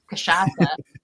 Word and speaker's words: cachaça: don't know about, and it has a tricky name, cachaça, because it's spelled like cachaca.